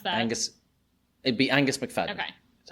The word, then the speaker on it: Angus McFadden: How do you actually pronounce that? It'd be Angus McFadden.